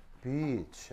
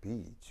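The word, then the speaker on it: beach: 여기서 얘는 장모음이에요. 장모음. 비치 알겠죠? 그래서 이제 짧게 발음하면 안 되겠죠? 그래서 비치.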